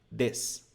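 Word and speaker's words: です: a nossa estrutura que é pronunciado como des eu já vou falar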